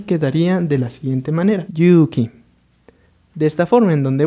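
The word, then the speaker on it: 勇気: Entonces vamos a ver que aquí se va a pronunciar simplemente Yuki y acá se va a pronunciar Yuki. En este caso, Yuki significa valor. Sin embargo, aquí como tenemos una doble vocal U, es decir, una vocal larga, vamos a ver que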